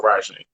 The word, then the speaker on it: Rysheem: So it's pronounced like Ra, like the first one R-Y and then Sheen together. So Rasheen. That's the original.